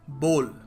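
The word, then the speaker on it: bowl: देखो बी ओ डब्ल्यू एल लोग सोचते हैं बी ओ ओ डब्ल्यू एल है बाउल है बाउल of rice बाउल of soup soup बाउल बाउल है नहीं देखो इसको सही तरीके से प्रोनाउंस करने का तरीका है बॉल बॉल अ बॉल of rice a बॉल ऑफ कुछ भी कह लो यार बोल होगा ठीक है बी ओ एल टाइप ऐसे बोला करो अब जरूरी नहीं है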